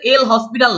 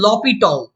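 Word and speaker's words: L'Hôpital: তো এই যে এল হসপিটাল, তো এটার আসলে উচ্চারণ কিন্তু এল হসপিটাল না, এটার কেউ উচ্চারণ করে লা হসপিটাল রুল, কেউ বলে এল হসপিটাল রুল। বাট এই যে ওয়ার্ডটা, এটা ফ্রেঞ্চ ওয়ার্ড।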